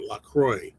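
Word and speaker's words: LaCroix: That's I I looked it up to make sure that's how you pronounce it. Lacroy drinks.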